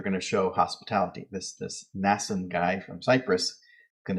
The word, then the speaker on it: Mnason: to this fellow whose name is hard to pronounce because there's M and an N. I think it's just probably a silent N. Mnason of Cyprus, an early disciple.